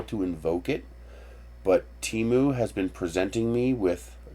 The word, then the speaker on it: Temu: I don't know how to invoke it, but Temu has been presenting me with actually, that's how you pronounce it.